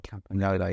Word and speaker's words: Campagnolo: to Pago to pag we're not allowed to pronounce the G there it's got to be campol campola yeah it's it's difficult